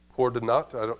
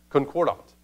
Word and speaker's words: concordat: Cordonat? It's not an English word, so I don't know how to say it exactly. Concordat. There it is, concordat.